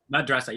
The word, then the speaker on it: madrassa: while they also attended how do you say that word, Abdi? Madrassa? Madrassa? Madrassa, yep. Madrassa.